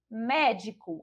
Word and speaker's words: médico: Médico, a gente já identifica que a sílaba tônica é a sílaba mé.